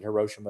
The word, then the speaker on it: Hiroshima: a city of rivers you can pronounce it hiroshima if you want hiroshima is what i actually heard hiroshima's fine and so this was the